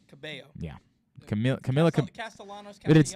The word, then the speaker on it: Cabello: gyllenhaal musical guest camila cabello cabello cabello yeah camila camilla castellano it's weird because she pronounces the l's in her first name but not in the second there's only one l